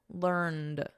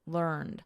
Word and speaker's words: learned: T here learned and then in American learned with a soft D learned both of them are